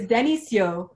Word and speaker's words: Denisio: So the actual way that you pronounce my name is Denisio. Denisio, which is what I used to say. Denisio. But it's Denisio.